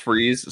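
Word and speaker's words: Fries: I'll say it is pronounced freeze still, Freeze.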